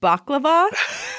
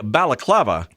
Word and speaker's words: balaclava: Which before seeing this, I think I knew this, but I'd never said it out loud, so I would have mispronounced it as baklava.